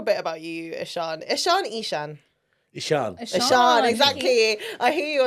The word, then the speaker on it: Eshaan: I say Ishan because that's what I've always been called. The actual pronunciation is Ishan.